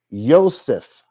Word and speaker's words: Yosef: And it would have been pronounced Yosef, not Joseph, but Yosef.